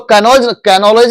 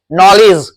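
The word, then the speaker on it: knowledge: मैं इसका प्रोनाउंस करेंगे वर्ड, इसको कैनोलॉज नहीं बोलेंगे, इसको नॉलेज, नॉलेज, इसको कनाउ नहीं पढ़ेंगे, नव पढ़ा चुका था पहले, नॉलेज जानना, नॉलेज में जानकारी, ध्यान देना।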